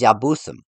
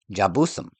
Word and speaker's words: Jebusites: The name that they found is Yabusim, and in the Semitic language, the Y becomes a J in the Germanic languages like English, thus making it pronounced Jabusim, or very well Jebusites in modern language.